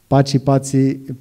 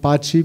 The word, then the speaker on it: Paci: So, and this idea of an Albanian artist called Paci in Albania, but being called Paci, pronounced Paci in Italy, and then meeting other